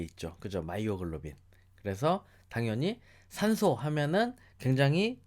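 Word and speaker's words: myoglobin: 마이오글로빈. 그래서 당연히 산소 하면은 굉장히 친화력 있게 여러분들이 딱 알아내셔야 하는 단어 마이오글로빈. 그죠? 또는 뭐 미오글로빈 이렇게 발음을 하기도 하죠.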